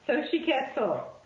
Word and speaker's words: Xochitl: Yeah, Xochitl.